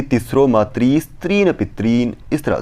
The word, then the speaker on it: मातृ: जिससे क्या होता है, लिखा तो यहाँ पर री है परंतु उच्चारण वहाँ पर कैसा कर रहे हैं, मातृ यानी कि ऊ, इस तरह से वह उच्चारण कर रहे होते हैं।